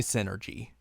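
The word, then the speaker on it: Psynergy: to look at that and say it was s energy s energy like psychic energy maybe it is maybe that's how it's pronounced but it's definitely Synergy you think so yeah because that's how it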